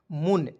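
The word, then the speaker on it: moon: दोस्तों म और देखिएगा दो कंसोनेंट के बीच में डबल ओ आता है दोस्तों उसका उच्चारण बड़ा ऊ के रूप में करते हैं ठीक है तो यहां देखिए बड़ा ऊ की मात्रा लगाएंगे एन से लिखेंगे न तो क्या हो जाएगा दोस्तों मुन तो एम डबल ओ एन को क्या पढ़ेंगे मुन पढ़ेंगे ठीक है इस प्रकार से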